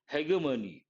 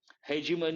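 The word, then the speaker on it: hegemony: you can say heimy Hegman Hegman is a British pronunciation heiman is American pronunciation part of speech noun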